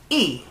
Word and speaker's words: y: sentences a little bit the word e is spelled like the letter Y in English but it means and but what happens if